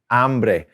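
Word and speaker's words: hambre: which is tengo ambre ambre and always make sure you pronounce that correctly h a because you don't want to mess up a little bit and say hombre which that ombre means man so tengo i am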